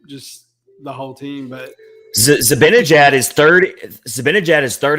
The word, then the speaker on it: Zibanejad: Zibanejad.